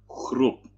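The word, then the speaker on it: groep: Czyta się, pisze się groeb, czyta się chrup.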